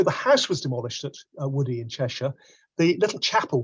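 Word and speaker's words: Woodhey: The Wilbrahams, though, also at their Cheshire estate decided that the house at Woodhay, or Woody as it's pronounced, would also be rebuilt.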